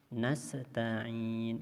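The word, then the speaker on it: نستعين: sambung bunyinya 6 bodoh Begitu juga huruf Sin sukun ini kadang-kadang terbaca mantul nasta'in itu berarti mantul atau Qalqalah karena bacanya Iya Kana budu wa iyya kanas sekarang ini berarti huruf Anya putus atau seperti Sapta korupsinya menjadi Bantul harusnya Hai iyyaka nabudu Wa iyyaka nastain yang ingin dengan ayat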